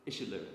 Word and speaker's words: Iseoluwa: On to, is it Iseoluwa? Did I pronounce that correctly? Iseoluwa, thank you.